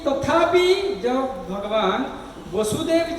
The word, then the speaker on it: वासुदेव: तथापि जब कृष्ण वासुदेव बोलेंगे तो भगवान श्री कृष्ण हो जाएगा। वाक्य को ध्यान रख के पढ़ना चाहिए या उच्चारण करना चाहिए। वासुदेव बोलेंगे तो श्री कृष्ण चंद्र हो जाएगा, वसुदेव बोलेंगे तो उनका पिता हो जाएगा, है कि नहीं।